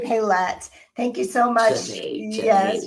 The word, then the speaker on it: Xanet: Janae, Yes, Janae, Xanet.